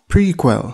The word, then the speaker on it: PRQL: the first one is prql pronounced prequel this stands for pipelined